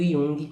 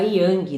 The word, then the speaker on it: Jung: gente tá falando do Yung é Lembrando que Yung se escreve Jung mas a pronúncia é Yung também não é you tá e eu já vi